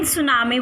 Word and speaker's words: tsunami: First of all, I would like to highlight that in tsunami word T is silent.